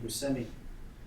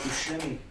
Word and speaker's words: Buscemi: up, in New York, and he pronounced his name Buscemi. And then when he got to be an adult, he went over to Sicily to go to his hometown, and they realized that he's been pronouncing his name wrong his whole life. Because S and C together is sh in Italian, so it's Buscemi.